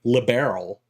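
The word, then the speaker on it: Liberl: Uh, it's an awkward word to pronounce in English regardless, but making it like a gemstone, like barrel, like liberal, I think that's good.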